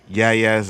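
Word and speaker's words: Yahya: How long have you known me and you can't say Yaya's name? The H is silent.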